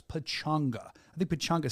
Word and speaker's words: Pachanga: You read it as Pachanga. That's how it's spelled, Pachanga, but it's not. It's Pachanga.